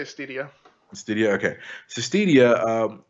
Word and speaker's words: Stadia: streaming uh service called stadia stadia how do you pronounce it I say stedia stedia okay so stedia